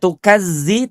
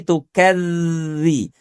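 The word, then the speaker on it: تكذبان: Tidak tukazzi tapi tukadzi. Tukadzi tuh tukadziban ya.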